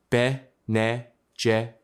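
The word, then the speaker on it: Bene Gesserit: The Ben Jesuit, pronounced Bejit, are a more subtle and to the guild more dangerous counterweight.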